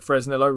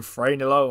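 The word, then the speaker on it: Fresnillo: pronouncing this correctly but the two people I've heard referring to it call it fresnilo rather than franillo or anything like that but this is a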